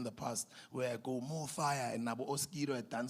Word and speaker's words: Mofaya: You can pronounce it in any language because it's not fire as in f i re e. It's fire f a ya.